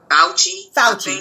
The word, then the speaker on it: Fauci: Fauci, how do you pronounce his name? Fauci, there you go.